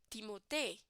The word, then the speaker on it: Timothée: I don't know if I'm pronouncing it correctly, but this is how it's supposed to be, right? Timothée. But in English, they will see Timothy, right?